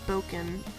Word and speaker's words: Bocon: It's either pronounced, it's Boken. The first pronunciation he told me was Boken, so I'm gonna go by that.